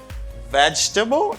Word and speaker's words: vegetable: And for this word, you say vegetable. It's not too difficult. Only I hear sometimes some people say vegetable. Okay? It's not vegetable. It's veg. Veg. You don't pronounce this syllable.